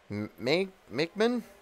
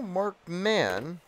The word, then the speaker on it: Markman: I actually will say I need to double check if I'm pronouncing that name correctly. Makeman? I believe it's Makeman, actually. Outside, ball two. No, Markman. Oh, there it is. It is Markman with 2 N's.